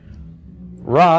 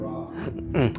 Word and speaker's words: ra: But anyway, that renders this being pronounced wrong. sounds a lot like wrong, so it's a great way to remember that wrong. It's not raw.